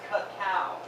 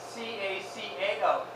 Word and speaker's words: cacao: Really what you want is cacao. C-A-C-A-O. That's what the ancient people revered. That's how they pronounced it, by the way, like K-A-K-A, cacao.